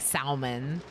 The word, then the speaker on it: salmon: But to me, it does sound funny, like salmon. That sounds funny to me. It's like when people pronounce often is not the typical pronunciation.